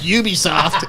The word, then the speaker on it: Ubisoft: you double down you know they're actually it's pronounced ubisoft and you've since that day have never backed